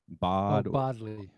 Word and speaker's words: Bodley: Bodley.